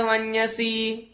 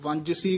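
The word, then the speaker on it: ਵੰਞਸੀ: जी इस नु इसे तरह ही उच्चारण करना, वन्यसी, कई जेड़े ने वो वंजसी कह देंदे ने, जज्जा ला देंदे ने, यहीं उच्चारण करना है, वावे उत्ते टिप्पी है, वन्यसी, यानी वन्यसी इस तरह उच्चारण करना।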